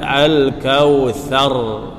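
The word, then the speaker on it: الكوثر: Kemudian "al-kawthar". Huruf 'ra' yang diam setelah fatha, seperti yang telah kita pelajari di bab-bab sebelumnya, berarti huruf 'r' dipertebal.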